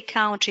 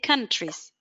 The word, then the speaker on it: countries: word uh count remember so that one it is not an ow it's an a we don't say count say countries again could you repeat countries